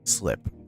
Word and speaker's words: Slip: Well, your name is Block, and my name is Slip. S-L-I-P. Slip. Pronounced Slip.